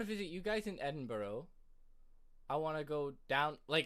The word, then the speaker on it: Edinburgh: Cam, please tell him how to pronounce Edinburgh. Edinburgh? It's Edinburgh.